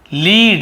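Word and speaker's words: lead: और सीसा को भी लीड कहते हैं, लेड ऐसे बोलते हैं, सीसा को लेड, स्पेलिंग वही है लेकिन वहाँ पे लेड ऐसे पढ़ते हैं।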